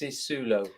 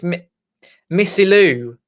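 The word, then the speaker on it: Missilou: Missisulo. No, it's Missilu. Missilo.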